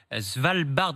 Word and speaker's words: Svalbard: On va parler de ce nouveau record de chaleur inquiétant en Arctique, Céline, dans le Svalbard norvégien, c'est ça, je prononce Vous bien?